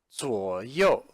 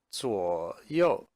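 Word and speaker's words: 左右: about or around first is pronounced saw yo so yo now I think you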